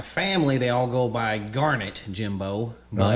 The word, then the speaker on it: Garnett: it's Garnett like darn it. Okay. That's what they've always said. Okay. I think Tut says Garnett like the stone, but it's not even spelled the same.